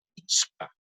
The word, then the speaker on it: pichka: Entonces, sí, Armando, la pronunciación del 5, especialmente la unión de las dos consonantes de la CH con la K, es un poco difícil, la de pichka. ¿Sí? Pero podemos hacerlo como picha. Tranquilamente se pudiera pronunciar como picha, sin ningún problema.